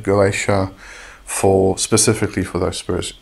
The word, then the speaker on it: Goetia: um when you are referring to the gotia or the goaa however you would like prefer to pronounce it as I said I I like to just pronounce It Go IA for specifically for those